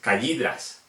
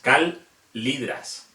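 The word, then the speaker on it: callidryas: La L siempre se pronuncia como L. ¿Qué quiere decir? Que aunque haya dos L's, no se pronuncia como una L, no se pronuncia Y, se pronuncia L. Por ejemplo, en la rana, en Agalikis calidras, no es callidras, es calidras. Tenemos que pronunciar la L tanto con la A como con la I.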